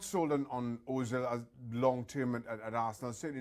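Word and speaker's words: Özil: Mesut Ozil, rhymes with mill.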